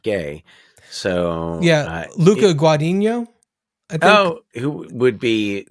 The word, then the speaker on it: Guadagnino: I don't know if I've seen Guadagnino. I think I pronounced it wrong. His actually Guadagnino.